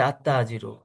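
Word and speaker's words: التاجر: আবার দেখেন মুয়াল্লিমন থেকে আল মুয়াল্লিমু তাজিরুন থেকে আততাজির ফাকিরুন থেকে আল ফাকির কারিব ফাকিরুন থেকে আল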